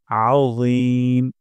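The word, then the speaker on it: عظيم: মোটা করে উচ্চারণ করব আজিম আ গলার মাঝখান থেকে এবং মোটা করে যেন না হয় সুবহানা রাব্বিয়াল আজিম সুবহানা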